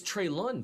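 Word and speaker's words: Treylon: in ipso facto um so it's trey lon burks i've been pronouncing it wrong too despite having this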